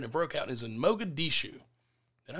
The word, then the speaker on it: Mogadishu: right there and it broke out is in mogadishu did i pronounce that right yes that was perfect i'm